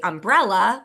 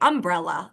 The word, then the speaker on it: umbrella: on like, is it, I say umbrella, like from when I was a kid, but most of our students say umbrella, a little more of that, accent on that first syllable, but that's got to